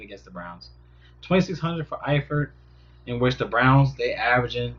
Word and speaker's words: Eifert: Pronounce Tyler Eford. Oh, that little girl. It's Eifert.